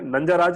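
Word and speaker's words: नंजराज: खत्म मतलब बेसिकली है कि जो मिनिस्टर है नंजाराज और नंजा राजा, मैं पहले इसको अलग तरीके से प्रोनाउंस करता था, तो मेरे को लगता था किसी ने ऐसा नाम कैसे दिया, जे को मैं जी पढ़ता था, ठीक है।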